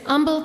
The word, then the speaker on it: Humble: Mount Vernon Texas hell so you just don't pronounce the AG humble humble yeah just humble humble yes like a Nash Griggs Umble Texas hello Corbin mcwain